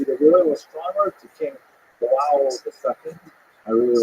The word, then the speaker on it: João: He's appointed to be the royal astronomer to King João II. I really like pronouncing that name, João. And sometimes in certain texts it's rendered as John, just to make it easy. But it's João.